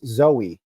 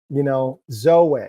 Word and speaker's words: Zoweh: people were calling us Zoe. And I used to have a dog named Zoe. I just couldn't do it. So we went with the phonetic of Yahweh, Zoweh. It's pronounced like Yahweh.